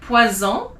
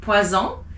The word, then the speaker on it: poison: If it's one S in the middle of a word like poison, it's a Z. Sounds like a Z, poison.